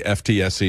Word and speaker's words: FTSE: You know, the stock index, the FTSE is pronounced FTSE for those of you not watching it in London.